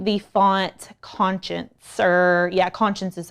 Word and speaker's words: Conscience: to be using the font conscience or yeah conscience is how it's pronounced um and it's just like a block